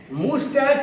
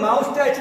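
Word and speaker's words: moustache: बहुत सारे लोग बोलते हैं क्या, तो भाई माउस्टैच नहीं, इसका उच्चारण मस्टॉस या मस्टैच हो सकता है। मस्टॉस या मस्टैच कर सकते हैं, कभी इसको माउस्टैच या मूसटैच ऐसा मत बोलिए।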